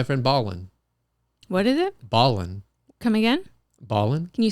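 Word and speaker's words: Ballin': baldwin what is it ballin come again ballin can you spell that for me like dribble dribble basketball ballin ballin basketball b-a-l-l-i-n apostrophe oh there's an apostrophe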